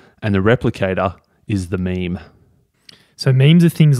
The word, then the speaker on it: meme: can call it imitation he says that it's it can be pronounced mem but uh let's go with meme love a good meme